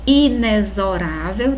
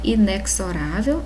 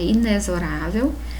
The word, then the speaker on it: inexorável: É inexorável, tá, gente? Não é inexorável, é inexorável. Sintaxe, tá?